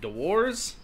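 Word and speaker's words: Dewar's: Dewars, I believe. Dewars.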